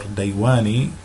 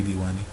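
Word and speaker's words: ديواني: And we have diwani or daywani, or should be diwani, it should be diwani.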